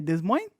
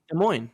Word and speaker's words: Des Moines: of West Des Moines how do you say Des Moines I know I'm messing this up I knew it before you said it was a morning right Des Moines Des Moines Iowa adds his first these points